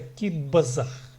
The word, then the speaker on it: кип-азах: Кип-азах пишется, но произносится киббазах. Киббазах. Кип-азах пишется. Киббазах произносится.